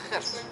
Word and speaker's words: Gert: When you pronounce it correctly, it's Gert.